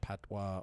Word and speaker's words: patois: to wikipedia is a patois it is locally known as patois or patwa or pat w-a-h all pronounced the same i don't know why